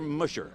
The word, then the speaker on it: musher: Is it musher or musher?